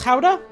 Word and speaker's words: Gouda: it that way uh that is like apparently how it's like actually pronounced in the country of origin or something like that